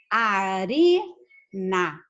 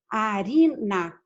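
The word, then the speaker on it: harina: Mas acontece que esse ATA não é a sílaba tônica. Vamos falar, arina, farinha em português, arina. Onde é que se encontra a sílaba tônica? No ri. Então, como esse ATA não é a sílaba tônica, eu tenho que escrever arina.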